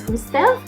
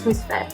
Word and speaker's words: Hustvedt: And I thought that it was Hustvedt, but turns out it was Hustvedt.